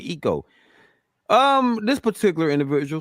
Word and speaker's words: IKOE: So Eco, IKOE. I said it right, Eco.